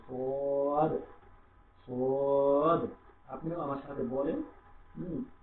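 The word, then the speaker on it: صاد: তারপর সোয়াদ, সোয়াদের এই গন্তে স, এটা মোটা করে উচ্চারণ করবো, সোয়াদ, সোয়াদ।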